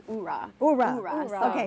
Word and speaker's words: oorah: So tell us about the one that the hoorah. That's how you say it, right? I think that's army. They say, I think it's like hoorah, but the Marine Corps is oorah.